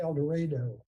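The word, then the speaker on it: El Dorado: And we're on the steps of the uh Carnegie Library in Elorado, Kansas, where Stafford went to community college before he went to the University of Kansas. And it's in Kansas. It's pronounced El Dredo if you're ever there.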